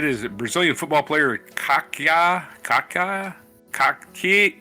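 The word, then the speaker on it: Kaká: Kaka. Kaka. Kaki. K A K A with a till day over what is called a accent. Yeah. Kaka. Kaka. I think that's how it's pronounced.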